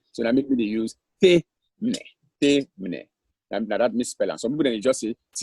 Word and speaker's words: Temne: Well, the danger in that is that if you say THAMNE, you can end up for say tamne. Yeah. You can end up for say tamne. If you just say THAMNE, I mean, anybody can pronounce it anyway. Yes. But when you put THEI, it's difficult for like any other way other than Temne.